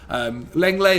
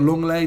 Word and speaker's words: Lenglet: Lenglet or Longley, depending how you say it, is also another one.